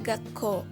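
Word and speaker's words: 学校: Ditulisnya Gakko dan dibacanya Gakko.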